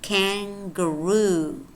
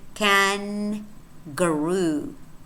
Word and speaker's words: kangaroo: separate syllables as in kangaroo kangaroo notice here how we don't say can guru we do not say can grow because and good are very